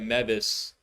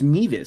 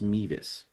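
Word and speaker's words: Mevis: looks like they're going to try to get Memphis in range. By the way, I found out it's pronounced Meas. So, definitely got to fix that. And I keep saying Memphis myself, so it's pronounced Meas.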